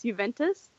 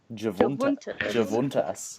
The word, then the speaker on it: Juventus: Can you tell everyone how you used to pronounce Juventus? Oh no. What was it? Javuntas, yes.